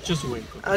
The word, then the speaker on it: Choshuenco: Right now we are in Pangipui, and the volcano that you just saw is called Chosuenco. Is that right, Jorge? Yeah, Mocho Choshuenco.